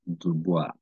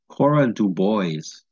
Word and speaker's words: Dubois: This is actually a French name. It is pronounced Dubois, right? Even though before they told me that as a kid and I was just learning how to read English, I would probably say Cora Dubois, right? But that's a strict English style pronunciation.